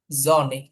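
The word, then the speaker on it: Sonne: pay Papiya উইস কুইস এফ রেগেন রেগেন এস জনে এস জনে বেশিরভাগ ক্ষেত্রে হচ্ছে জার্মান ল্যাঙ্গুয়েজে যদি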